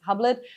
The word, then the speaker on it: Hublot: So Hublot, or here mostly pronounced Hublot, was the first one who produced a watch with osmium already in 2014 and 15, two limited editions.